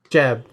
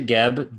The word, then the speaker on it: Geb: prep there as well can you please pronounce it gab jeb makes it sound like we're going to visit president bush's cousin um yeah we need to so we're gonna go to geb and we're gonna feel